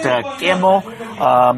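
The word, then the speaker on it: GGaeMo: It's a double G, so in Korean it will actually be pronounced Gamo, but double G, A, E, M, and O. So, Gamo? It's, well, in Korean it'd be pronounced Gamo, basically.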